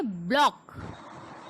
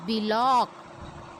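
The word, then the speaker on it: block: बहुत सारे लोग इसको गिलास बोलते हैं, बट वो रॉन्ग प्रोनाउंसिएशन होता है. That is glass. ठीक इसी तरीके से ब्लॉक. बी लॉक. अब हम बोलेंगे इट इज बिलॉक.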